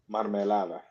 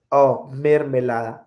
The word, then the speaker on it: mermelada: Marmelada. Marmelada. Marmelada. It is pronounced mermelada. Mer. Mermelada. In French, mer is something else.